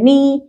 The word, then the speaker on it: knee: طيب letter K and N، مين اللي متحكمة؟ ال N. طيب مين ال silent؟ letter K. اوكي، معنى كده ان احنا هنا هننطق letter N، ولا كأني شايف ال K ولا كأني شايف ال G.